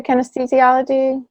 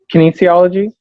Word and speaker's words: kinesiology: and what drew you to kinesthesiology? Kinesiology?